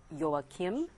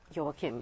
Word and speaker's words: Joachim: and workplace for this episode we're joined by joakim correct he's a certified building biologist hello joao kim that i pronounced that correctly right yes yeah yes although